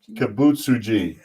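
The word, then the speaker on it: Kibutsuji: try with the name i always say z instead of g so it's kabucha's kabutsuji i just saying because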